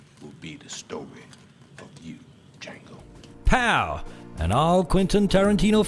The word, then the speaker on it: Django: Well folks, that's it for Django. The D is silent.